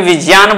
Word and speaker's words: विज्ञान: विज्ञान हो जाता है संस्कृत में विज्ञान बोलेंगे ज्ञ वहां उच्चारण ज उच्चारण होता है ज धन य से मिलकर बना होता है विज्ञान यानी यहां भाषा विज्ञान